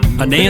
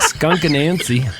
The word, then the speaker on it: Anansie: I looked up how to pronounce that. Anansie. Just waiting. It's only a 3-minute song, man. We got to hurry up. Skunk Anansie.